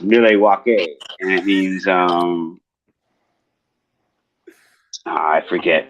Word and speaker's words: Milwaukee: It's actually pronounced Milwaukee, and it means I